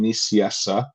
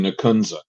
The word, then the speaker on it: Nicieza: many years now is in spanish it's fabian in english it's fabian nissiessa and in american it's fabian nakunza so i i want